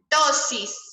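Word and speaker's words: ptosis: Tosis, se pronuncia así, tosis.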